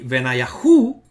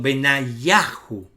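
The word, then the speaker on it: בניהו: No se dice aquí Benayahu, no hay acento en la sílaba hu, sino que la sílaba acentuada justamente es yah. Sería Benayah, perdón, Benayahu. Benayahu, la sílaba acentuada en los nombres teofóricos que terminan en Yahu es Yak.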